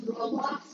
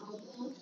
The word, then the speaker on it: Roblox: It's Roblox, not Roblox. I don't care, I can pronounce it however I want.